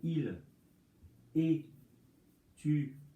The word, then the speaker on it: étudierait: Alors, c'est pas ici, mais par exemple, pour il étudierait, on ne prononce pas ce. Pourtant, il est là.